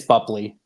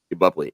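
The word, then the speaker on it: Boepple: I'm sure you can correct me on how to pronounce that. Yeah, it's Bupley. Bupley.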